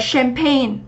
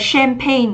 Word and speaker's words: champagne: Thì chúng ta thấy là cái SH này nó không đọc là chờ mà nó đọc là sugar. Và chúng ta sẽ đọc là champagne, đúng không? Từ này trọng âm sẽ dẫn tới thứ hai. Và mình đọc là champagne, trọng âm 1. À quên, trọng âm 2, âm sure.